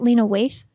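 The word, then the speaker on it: Lena Waithe: her but I've never actually heard her name pronounce out loud is it lena waste yeah Lena is amazing Yara is it Yara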